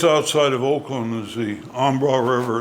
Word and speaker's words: Embarrass: Just outside of Oakland is the Ambra River. It's spelled Embarrass, but it's pronounced Ambra.